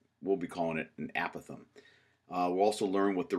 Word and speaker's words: apothem: It's pronounced apothem. You might be inclined to call it an apothem, but we'll be calling it an apothem.